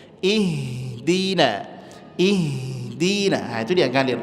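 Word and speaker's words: اهدنا: Kebanyakan di sini kesalahannya adalah ihdi. Ihdi gak ihdi. Kemudian H memiliki sifat hames. Dia mesti ngalir dan enggak boleh habis suaranya. Jangan ihdi. Ihdi. Dak ngalir aja lembut. Ihdina.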